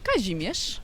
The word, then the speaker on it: Kazimierz: There's Kazimierz, if I got that anywhere right pronunciation wise. How do you say it? Fantastic, Kazimierz.